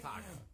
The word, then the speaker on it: Taako: His name is Taco. It's a family name. It's not pronounced like.